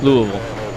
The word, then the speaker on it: Louisville: I would say if I was going to spell it out phonetically, I'd be l O U H V U HL. Wow. Yeah. Louisville.